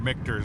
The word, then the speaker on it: Michter's: It was such a cool area, just so many different things, and some of the things like Mitchers, or Michter's, I think is how it's pronounced, sorry, Michter's distillery is